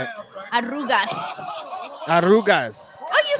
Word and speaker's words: arrugas: Arrugas.